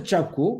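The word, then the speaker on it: Kyaukphyu: It is pronounced as Chapku, but written as Kyapku, Kyakphu, Kyapku, Kyapku port, Myanmar.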